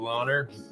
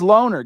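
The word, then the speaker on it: Lohner: Let's hear him say it himself. Check it out. I'm Loner. There you go. So it is Loner, guys. It is Loner, for what it's worth.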